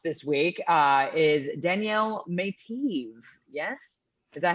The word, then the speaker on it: Meitiv: week uh is danielle mateev yes is that how you say it eve yes it is i practiced i coached her i need i it's like she was like no it's may t i had to do